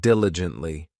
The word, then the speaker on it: diligently: Next, we have diligently. This adverb has 4 syllables, and the stress is on that first syllable, diligently.